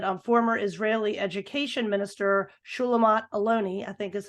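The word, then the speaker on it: Shulamit Aloni: read once that on former Israeli education Minister shulamat aloni I think is how you pronounce her name she said on Democracy Now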